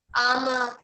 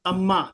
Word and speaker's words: आमा: आमा, not अम्मा। नहीं, अम्मा यानी मम्मा। हाँ आमा. आमा। और आमा? आमा आमा, not E. is E. A. A is A.